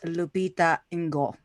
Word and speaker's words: Lupita Nyong'o: It's Lupita Nyong'o.